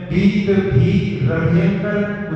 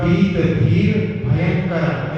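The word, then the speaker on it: वीतभीरभयंकरः: जगह पाया और इसमें बीत भी भयंकर उच्चारण इसका सही है, लेकिन लोग इसका बीत भीर भयंकर ऐसा नहीं पढ़ते, तो उसमें भगवान का नाम भयंकर हो जाएगा, जबकि भगवान का नाम अभयंकर है।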